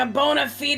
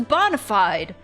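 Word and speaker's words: bona fide: you look like a bonafed a Frontline investigator now is that how you say that I thought it was Bonafide it's absolutely Bonafide but I have a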